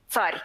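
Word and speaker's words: царь: It means czar, but it says tsar. What is at the very end is a letter which is not featuring here. It's just a silent letter. It says this consonant should be soft, soft, soft, and you'll know more about it in our classes.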